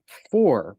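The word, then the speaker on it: phwoar: know what this means okay okay it's uh four but it's spelled p h w p h w a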